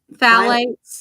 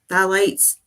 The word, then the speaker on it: phthalates: Phthalates. Phthalates. The P is silent, so I guess it's phthalates.